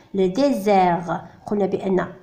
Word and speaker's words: désert: Le désert. قلنا بأن S عندما يكون entre deux voyelles ينطق Z.